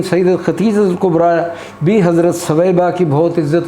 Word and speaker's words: ثویبہ: ماؤں میں حضرت ثویبہ، لوگ اسے غلط صوبیہ پڑھتے ہیں، صوبیہ نہیں بلکہ صحیح اس کا تلفظ ثویبہ ہے۔ سیدت حلیمہ رضی اللہ